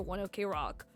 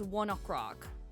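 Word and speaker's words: ONE OK ROCK: they haven't officially said you're not supposed to pronounce it one rock and the announcers and everyone still pronounced their their name as one rock however their name is oneok Rock like 1:00 because that was the time that they used to meet it's supposed to be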